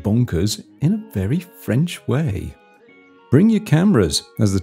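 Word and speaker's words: Oingt: Winked, pronounced wa. Yes, wa.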